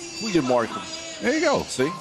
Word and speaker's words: goedemorgen: Goedemorgen. Goedemorgen. There you go. See? That was actually the right version of the G, too.